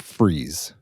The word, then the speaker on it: Fries: so this one is spelled f r i s fries but pronounced freeze Virginia yes look at